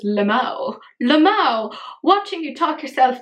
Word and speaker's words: LMAO: I do have my favourite comment, and this is from the fabulous Flea Market Gold, who said, LMAO, which I always pronounce as Lamau.